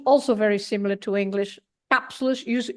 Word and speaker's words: cápsulas: Cápsulas, you have the accent on the A, so you have to stress cápsulas.